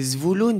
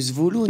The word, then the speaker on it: Zvulun: C'est Zvouloun, ça s'appelle la rue Zvouloun. Il ne faut pas aller chercher plus loin. Zvouloun. En fait, on peut commencer à chercher plus loin. C'est Zvulun que ça s'écrit. Voilà, ben voilà.